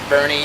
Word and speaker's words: Boerne: Cibolo Creek brewing in Bernie Texas spelled b-o-e-r-n-e but pronounced like the name Bernie as I'm learning that's